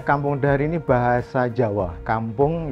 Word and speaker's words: Kampoeng: Kampung ya kampung. Ejaannya O-I. Itu macam ejaan lama untuk menunjukkan dia style lama atau otentik.